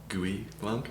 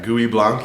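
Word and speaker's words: Gouais Blanc: interesting varieties out there, and I'm going to mispronounce this next grape variety. GUI Blanc. Thank you. Yeah. That's a talking point for them right now. Yeah. GUI Blanc.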